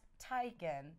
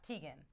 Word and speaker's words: Teigen: I had no idea it's pronounced Taikan not Teigen poor John she stays